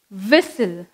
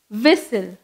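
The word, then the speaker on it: whistle: Next விசில், டபிள்யூ ஹெச் ஐ எஸ் டி எல் இ விசில். நம்ம எப்படி pronounce பண்ணோம், விசில், டபிள்யூ ஹெச் ஐ எஸ் டி எல் இ விசில்.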